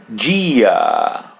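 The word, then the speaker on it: dia: Gia Gia G. Notice that when the letter I or E in Portuguese comes after the letter D or they in Portuguese, we pronounce it G.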